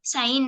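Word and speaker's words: sign: एस आई जी एन साइन साइन म्हणजे चिन्ह किंवा संकेत यस थिन एफ ई आई जी एन दंत कथा फॉरेन नाली नोम रेन रिझाईन साइन या शब्दांमध्ये जी हे लेटर सायलेंट लेटर आहे यस नाऊ टुडे वोकॅबरी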